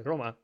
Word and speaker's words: Roma: Like Dima, sorry, Roma, you're not Dima. Oh, thank God. Okay. Roma. Yeah. Still not Dima. It rhymes with Dima.